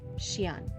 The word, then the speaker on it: Xian: Any form of X with a vowel is also interpreted as sh or she. Okay. With a vowel. So because he's Xian, it is Xian.